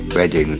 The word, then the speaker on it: Reading: that reads in English, Reading, that rhymes with wedding and not the act of understanding words through the eyes street.